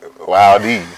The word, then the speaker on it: Wilde: Wilde. What is that? What is it? What? Who's Oscar Wilde? Who's that? Oscar Wilde is a writer. Wow. Oh, the E is silent.